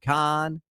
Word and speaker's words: Kahan: I like Noah Khan. It's spelled K A Han, pronounced Khan.